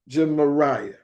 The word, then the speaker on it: Gemariah: How do you pronounce this? His name is Jemariah.